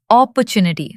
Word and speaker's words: opportunity: One day the restaurant received an unexpected opportunity. Almost. It's opportunity with the stress on the third part.